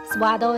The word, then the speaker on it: Swatow: in the province Guangdong suada is pronounced in local dialect on January the 1st